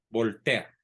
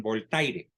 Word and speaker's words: Voltaire: voy a referir es al famosísimo voltea ese que muchos no saben pronunciar porque Bueno no es obligación saber francés y le llaman voltaire bueno se escribe voltaire y se escribe voltear pero era un sobrenombre